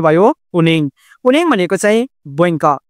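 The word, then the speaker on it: 은행: कार्यालय अर्को छ हाम्रो उनङ अब यो उनहेङ पनि भन्न सक्नुहुन्छ तर यसको वास्तविक उच्चारण के हुन्छ उनेङ हुन्छ है अको उच्चारण हुँदैन।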